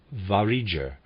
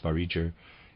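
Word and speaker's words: Vareger: europe turned to the variger and how in the east of the northern peninsula the trend is more toward the east readers aside i'm pronouncing this variger it's spelled v-a-r-e-g-e-r end of readers aside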